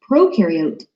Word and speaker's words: prokaryote: is a big deal prokaryote the pro rhymes with node and they have no